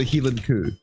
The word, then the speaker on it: Highland cow: Well, we would pronounce it Heeland Coo.